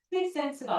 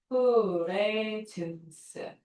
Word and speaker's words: presence: 밑에 단어를 프리센스라고 읽기 때문이야. 네. 프리센스가 아니야. 자, 얘 어떻게 읽었어? Prent 얘는 어떻게 읽는 거? Prence. 어떻게 읽는다고? 프레젠스. Prence. 프리센스가 아니고요.